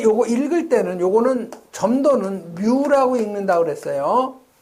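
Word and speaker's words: μ: 여러분이 요거 읽을 때는 요거는 점도는 뮤라고 읽는다고 그랬어요. 요 밀도는 로우라고 읽죠.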